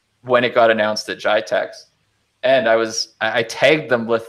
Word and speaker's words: GITEX: From there, we moved into BlackBerry Motion, which was announced at, I always forget how to pronounce this, GITEX or GTEX? Oh, yeah, I think GITEX in Dubai. GITEX, yeah.